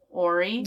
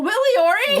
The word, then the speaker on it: Willie O'Ree: In story, when I said story, how was I pronouncing O-R-Y?